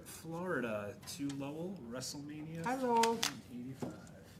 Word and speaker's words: Lowell: Hi, Lowell. 85. How do you spell that? How do you spell that? What's the Lowell? L-O-W-E-L-L. Okay, just like it sounds. Like Lowell, Massachusetts. Thank you.